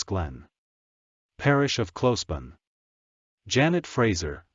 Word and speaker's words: Fraser: whose name is Janet Fraser, or, as we in the South used to pronounce it, Frissell.